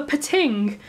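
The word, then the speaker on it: Pting: of the story of the pitting which is spelled PT ing despite all my mum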